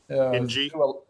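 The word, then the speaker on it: Engie: Engra, how do you pronounce Engra? NG.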